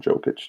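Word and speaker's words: Jokić: just suck at names i think you pronounce it yogic nikola yoketch yeah i think it's yokish but i think a lot of people call him jokic too yeah i also took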